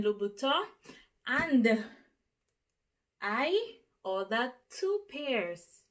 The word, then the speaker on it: Louboutin: me in the comments telling me how to pronounce the butter don't even try it okay so it is called christian louboutin and i ordered two